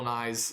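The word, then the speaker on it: Nighy: science guy not that guy yeah this bill nye is n-i-g-h-y bill nye is that how you spell that yeah oh man that's weird anyways it's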